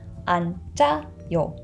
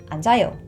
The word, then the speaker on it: 앉아요: And again, this 지읒 carries over into the empty vowel, so the pronunciation becomes 앉아요. 앉아요.